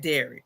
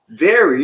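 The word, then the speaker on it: Derry: Someone Frank said dairy. Milk like mother's milk. Dair. Maybe I'm saying it wrong. D E R R Y. Dairy like Terry.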